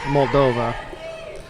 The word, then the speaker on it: Moldova: So it's Moldova. Wasn't quite pronouncing it correctly.